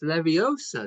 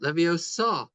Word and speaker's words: Leviosa: out with his pronunciation it's Leviosa not levosa I thought she was